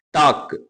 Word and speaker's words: talk: டாக், TALK, டாக். இதுல L silent letter.